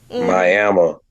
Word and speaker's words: Miami: have a city it's it's spelled like Miami like Miami Florida right yeah they pronounce it miam Miama miam and there's city